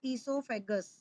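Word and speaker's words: oesophagus: दूसरा नाम होता है इसको ईसोफेगस। ओ साइलेंट होता है इसमें।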